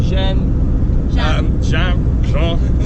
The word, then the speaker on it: Jean: We've got Pierre and Jen. Jean, French is the pronunciation. Jen.